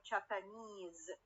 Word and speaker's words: Japanese: last syllable japan okay when i add the suffix is is to to get the word japanese the primary stress will go to work to the stress carrying suffix we have comfort